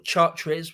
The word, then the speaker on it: Chartres: They were going to drop into Chartres, or Chartres, we'd say it, but I think the French pronounce it Chartres.